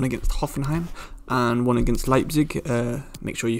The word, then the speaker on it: Leipzig: hoffenheim and one against leipzig uh make sure you forgive me if i do say leap throughout this because uh that's just the way i've always said it wrong but um yeah we're